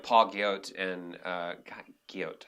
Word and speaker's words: Guyot: Right, and there's a lot of casting directors that are on it now, and like Paul Guyot and Guyot, I think is how you say his last name, showrunner from, he's a writer, yeah.